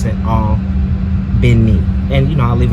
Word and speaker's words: Albany: here i'm going to own vinnie georgia it's pronounced spell albany as in albany new york but here in the south we pronounce it all been neat and you know i'll leave it on the